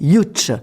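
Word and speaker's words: Łódź: C'est l'école de ça s'écrit Lots L O D Z mais ça se dit Ych et vraiment c'est une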